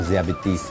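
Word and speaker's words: ذیابیطس: इसकी प्रोनाउंसिएशन किताब हिकमत के अंदर जो है वो ज़ियाबेतिस है। ज़ियाबेतिस, ज़ियाबेतिस है, ठीक है।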